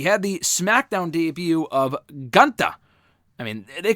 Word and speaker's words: Gunther: We had the SmackDown debut of Gunther. I mean, they call him Gunther during his in-ring introduction. I think it was Kayla that called him Gunther. I don't know. He has called himself Gunther.